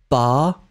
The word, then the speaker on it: pas: » Nels, est-ce qu'on prononce le S dans le mot pas? Non, on ne le prononce pas, mais si vous avez une voyelle après, Nels, on va faire la liaison.